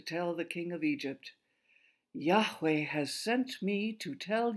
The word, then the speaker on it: Yahweh: If we lived in Moses' day, we would pronounce that name Yahweh, which means God is.